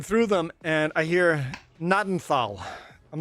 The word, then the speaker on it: Gnadental: And if you Google it, it's like Google tells you it's pronounced nadenthal. I'm like ganadenthal.